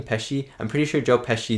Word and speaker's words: Pesci: sure that joke pes pesci that is how you say his last name peshi i'm pretty sure joe